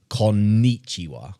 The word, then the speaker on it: konnichiwa: Konnichiwa is actually 5 syllables. This is the correct way to say it.